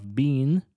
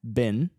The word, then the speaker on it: been: May not been и вы можете услышать что он не произносит be как это было бы в сильной доле be и тогда в сильной доли у нас была бы минимальная пара ведро мусорное Ben и третья форма глагола Be be Ben be но в проходящей конструкции когда be находится в слабой доле то он произносится как раз как мусорное ведро через Ben May not have been